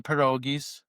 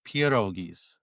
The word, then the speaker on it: pierogis: But um Kim's mom is 100% Polish and she'll she'll bring she'll bring the perogis. I always say it wrong. I don't say it correctly enough. It's pierogis.